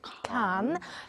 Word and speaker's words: Cannes: put out on the can's website as well as British media describing the appointment as the return of a director beloved by Kans or cans or Khan it's a silent s Walter While French critics